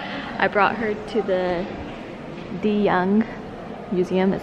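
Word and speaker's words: de Young: museum before so I brought her to the the young museum that's how you say it and that's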